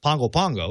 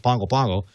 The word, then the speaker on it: Pago Pago: the capital city there is is uh is pronounced pongo pongo it's spelled pago pago it's pronounced pangopango and uh they had uh they were suffered